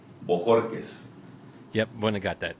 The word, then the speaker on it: Bojórquez: Borquez.